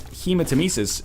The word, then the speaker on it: hematemesis: kind of crazy NL you need to pronounce hematemesis as you would hematoma hematemesis did it's it's